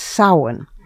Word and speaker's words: Samhain: Or, as Wiccans call it, a joyous Samhain. It's spelled S-A-M-H-A-I-N, but it's pronounced Samhain, and it is the Wiccan New Year.